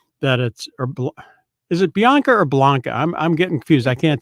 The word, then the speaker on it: Bianca: was talking about, that is it Bianca or Blanca? I'm getting confused. I can't tell what Bianca. Yeah, Bianca. It is Bianca.